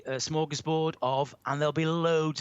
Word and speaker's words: smorgasbord: The manager of the England football team has a smorgasbord of midfield players. I use the English pronunciation, but if I wanted to say this word in Swedish, where it comes from, it would be smörgåsbord.